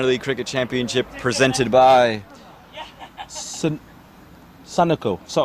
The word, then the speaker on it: Sunoco: Timeout for Sunoco Go Rewards.